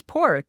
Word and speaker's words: Padraic: His name is Porrick, but it's spelled, that's how you say it phonetically, but it's spelled Padraic.